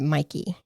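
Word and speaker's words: Mäki: And I think I don't know if it's Mikey or Mickey. It's So, it's spelled M A K I, but everybody pronounces it Mikey.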